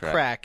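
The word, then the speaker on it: craic: banter and it's good crack that's pronounced crack it's Irish and I looked it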